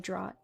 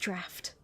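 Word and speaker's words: draught: Have you drunk also of the intoxicating drought? Draft? That's That's pronounced draft.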